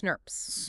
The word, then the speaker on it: snRNP: It's huge, composed of several protein RNA complexes called snRNPs, small nuclear ribonucleoproteins pronounced SNRPs.